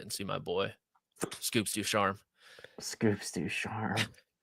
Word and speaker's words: DuCharme: What are the common mispronunciations? DuCharme, DuCharme. Those are probably the most common. Which the E on the end is the one that should have told us that one.